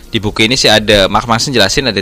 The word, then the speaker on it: Mark Manson: Iya, benar bacanya, Mas. Benar, Mark Manson.